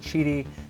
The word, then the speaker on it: Qidi: It is pronounced cheaty. That is the correct pronunciation. I said Kitty X4, and you guys